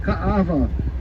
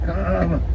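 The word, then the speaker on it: Kaʻaʻawa: Okinas make the vowel sound very hard, like Ka'ava. The A is really hard sounding there.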